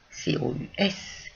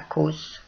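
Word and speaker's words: cos: Eh bien, parce que là, c'est notre petite histoire du haut long latin qui était prononcé ou. Les latinistes, eux, ne sont pas surpris. Et donc, ça ne se lit pas cause, ça se lit cous.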